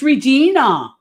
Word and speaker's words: Regina: says you look beautiful Renee it's Regina I love Aaron all